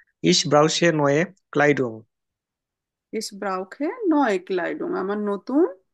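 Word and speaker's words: brauche: না, ব্রাউখে হবে correct. CH এর আগে যদি আমার আ, ও আর উ থাকে, তখন ওই সিএইচ এর উচ্চারণটা আমরা ক বা খ এর মতো করব।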